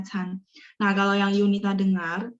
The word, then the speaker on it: 餐: Ini hurufnya memang bacanya can.